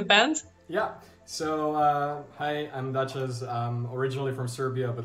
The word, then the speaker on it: Dachaz: Or how do you pronounce Dachaz, or is it? So it's Dachaz.